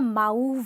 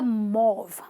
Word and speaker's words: mauve: great with colors but this color is called a mauve okay it's not a mouth or whatever you want to call it it's a mauve mauve means like i